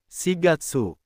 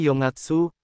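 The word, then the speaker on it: 四月: April bukan Yongatsu tapi si Gatsu.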